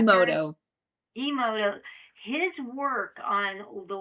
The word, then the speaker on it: Emoto: Dr. Momoto's, I don't think I'm saying it right. Dr. Emoto.